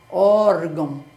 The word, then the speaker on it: órgão: é a penúltima aí se você tem por exemplo órfão né órgão tá vendo a a sílaba forte é o o de órgão órfão aí é só acrescentar